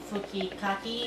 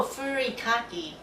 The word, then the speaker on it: furikake: So this is nori komi fukikake.